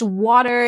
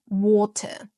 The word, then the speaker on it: water: So, you know, in British English, water is pronounced water. Water has a crisp little t sound. But in American English, the t transform into a duh sound, a d sound, a soft d sound, not a hard exposive duh sound.